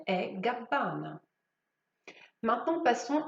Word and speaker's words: Gabbana: Même chose pour Gabbana, il y a deux B. Comme pour Gucci, Gabbana, les deux B doivent être prononcés. Donc prononcez Dolce et Gabbana.